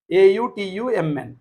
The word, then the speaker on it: autumn: n is silent Ru if a word ends in MN n is silent a u t u MN y y y y